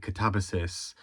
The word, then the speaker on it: Katabasis: Um the audio book I listened to called it catabossis um which doesn't as naturally roll off my tongue. Um even if I acknowledge that that's maybe the intended pronunciation.